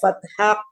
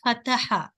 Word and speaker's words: fatha: When you pronounce the fatha, not fataha. Okay? Fatha. Okay. Fatha. Even in the fatha, when you pronounce that ha in the fatha, Okay. ha you should pronounce with the air.